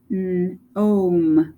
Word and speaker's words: gnome: And then the G again is silent. We have gnome, a gnome.